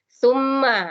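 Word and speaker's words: ثُمَّ: Summa, ini cara penyebutan summa itu digigit di ujung lidah, tu. Summa, jadi bukan summa, bukan sin di situ, tapi ta.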